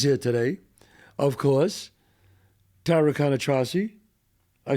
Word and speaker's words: Cannistraci: Tara Cannistraci. I said it right now, right? No, it's 7 years of not saying it right. Cannistraci. Cannistraci.